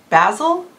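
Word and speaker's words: basal: why plateaus can happen wait is that basic or basil am I saying it wrong oh I said it wrong it's basil it's basil wait basil metabolic rate okay I'm not redoing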